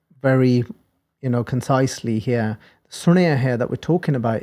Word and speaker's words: Suniai: the way we pronounce it but the the pronunciation again a reminder is it's Sonia so here we've gone through in detail the